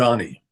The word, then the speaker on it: Mamdani: I'm going to get his name wrong again. You say it. I'm going to Mamdani, Okay. Mamdani.